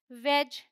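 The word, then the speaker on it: wedge: Rule क्या है, डी is silent before जी। मतलब जी से पहले डी आएगा तो साइलेंट होगा। या फिर आप ऐसे भी समझ सकते हैं कि डी जी ई है तो उसका साउंड है ज। ऑल राइट, डी नहीं बोलेंगे। तो ये है बैज, हेज, वेज, एज।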